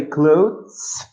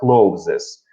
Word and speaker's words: clothes: When you say clothes, это одежда. И не бывает единственного числа. У вас всегда слово будет таким. Просто слово clothes. Будьте внимательны в произношении. Вы частенько говорите слово closes.